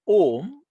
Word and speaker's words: Om: So that makara is it is not ending with the sound mu, but it is making a vibration.